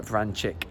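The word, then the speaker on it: Vrančić: to say with without players like stephen uh vran chick which is apparently how i'm supposed to pronounce it now mario francis um tribal and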